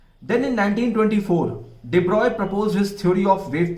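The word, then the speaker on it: de Broglie: वैसे आप इसको डिब्रॉगली पढ़ते हैं, बट करेक्ट प्रोनाउंसिएशन इसका डिब्रॉय है.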